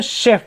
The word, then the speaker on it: chef: CHEF, इसमें चेफ नहीं पढ़ेंगे, शेफ पढ़ेंगे, क्योंकि ये मॉडर्न फ्रेंच से आया हुआ है।